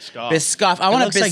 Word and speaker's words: Biscoff: Biscoff. Biscoff.